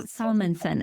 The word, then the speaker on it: Salmansohn: You said, "Oh, Salmanson." Okay. But I have this thing to help people to remember my name is um I'm always going not salmon because they always pronounce it like the fish.